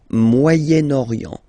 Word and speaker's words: Moyen-Orient: So it's interesting here because normally if you would have only this word here, you would pronounce it moyen, moyen, okay? But then as you get this vowel after, okay, you get to make the liaison between the two, le Moyen-Orient, Moyen-Orient, okay?